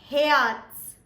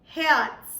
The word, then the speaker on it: Herz: So, the last word for us was Herz. Herz. I hope you did not forget the tiny T over there, yeah?